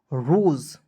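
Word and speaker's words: rose: उसके बाद देखेंगे आर ओ एस ई। आर का र होता है। ओ एस ई का उच्चारण दोस्तों ओक्स के रूप में होगा। क्या हो जाएगा? रोज।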